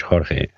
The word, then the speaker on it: Jorge: Because I always said George, but then I think Nathan's been saying Jorge, right? Yeah, Nathan says my name in Spanish, Jorge. I'm Portuguese. It's Jorge. George. The J is spelled J.